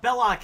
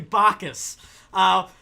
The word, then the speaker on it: Bacchus: He's like, "Yeah, Belloc is just like a mispronunciation. It's actually Bacchus.